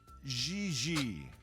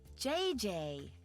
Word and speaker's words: Gigi: Gigi. JJ. En français, you pronounce G like J and J like G. She may very well be JJ in America, but in France, she is Gigi.